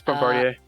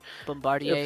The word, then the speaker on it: Bombardier: It's Bombardier. It's normally how it's done. It's French. Bombardier.